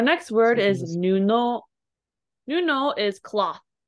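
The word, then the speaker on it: 布: Do you know what this guy's pronounced that? It meant cloth or patch, perhaps, in this context. Nuno.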